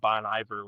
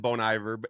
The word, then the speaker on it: Bon Iver: We had to do Google tra or pronunciation on his last name because I always said Bon Ivor and then several people have corrected me over the years.